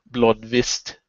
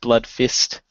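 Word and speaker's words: Bloodvist: that well you know they're Vikings of course would be blood blood vist instead of blood fist what um or blood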